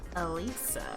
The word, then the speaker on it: Elisa: But let's go to the rooftop first with Miss Elisa. That's how you say her name.